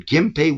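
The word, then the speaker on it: Genpei: that word in it but we pronounce it with an M sound. Right. The Gimpe war was fought between the Tyra and the Minamoto at the end of the 12th century.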